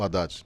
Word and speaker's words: Haddad: E dificilmente vamos escapar de Fernando Haddad, né? Ou Haddad, dependendo da pronúncia, que hoje seria o vice de Lula.